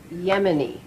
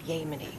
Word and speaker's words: Yemeni: It's Yemeni, not Yemeni. Can you say that? Yemeni. I think the people here might appreciate it if you could pronounce the name of their country properly.